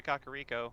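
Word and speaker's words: Kakariko: he's like okay I'm going to head to kakar Rico and I'm like oh that's how you say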